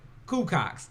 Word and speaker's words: Cuco X: It's called Cuco X. Of course, Taz like to call it Cucox because it's an X on the end.